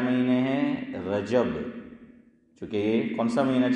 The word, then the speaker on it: رجب: کیا جاتا ہے تو صحیح تلفظ ادا کرنے کی کوشش کریں۔ ہم لوگ بہت سی مرتبہ صحیح تلفظ نہیں کرتے، ہم کیا بولتے ہیں؟ رجب، یہ رجب، میں کہ گجب ہے، ہاں یہ ہے رجب، کیا ہے؟ جیم پر فتح ہے، زبر ہے، رجب، تو کیا بولو؟